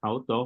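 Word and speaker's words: αὐτῷ: okay dativo auto auto porque la idiota sus Rita no se pronuncia se pronuncia auto muy bien femenino a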